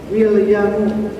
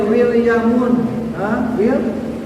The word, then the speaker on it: William: Contohnya William, nggak boleh Williamun, Williamun dibaca tanwin, ini kotor, salah.